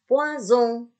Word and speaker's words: poison: Tetapi kalau dia S-nya itu sendirian, ya, di tengah-tengah kata, dia tidak terbaca S, tapi terbaca Z. Contoh, nah, poison.